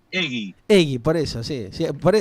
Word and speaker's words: Heguy: Y la pronunciación correcta viene del origen vasco-francés, es decir, Claro. que la pronunciación es Egui.